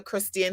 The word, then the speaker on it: Christien: part um but i also collect funds under christian his name is christine spelled with the e c-h-r-i-s-t-i-e-n christian keyless it's spelled